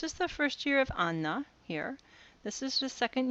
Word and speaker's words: Anna: ningo Ana that's pronounced I know it looks like anwa but it's Anna okay um and that